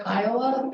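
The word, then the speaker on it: CCIOA: The staff report discusses the Colorado Common Interest Ownership Act, or Kiowa as it's pronounced.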